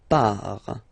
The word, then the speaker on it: pars: So the first form is je pars. So final S not pronounced.